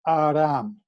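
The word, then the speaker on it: ערם: The waters gathered together, like Julie and Renee were saying, comes from the Strong's Concordance, Hebrew word H6192, pronounced Aram, A with a hyphen or a R-A-M.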